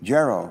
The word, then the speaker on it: Jarrow: Another true public servant within the Secret Service is a fellow named Tate Jarrow, rhymes with arrow.